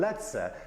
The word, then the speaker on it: lecę: Lecę.